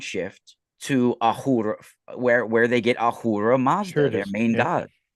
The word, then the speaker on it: Ahura: They worship Ahura Mazda. I mean, that's Well, obviously if Asura. yeah, if that S is silent in the old language, which it is at times, it is Ahura.